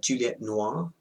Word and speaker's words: Juliette Noir: name so if you're not sure how to pronounce it my name is Juliet Nora which is Flint fledge which is French cforce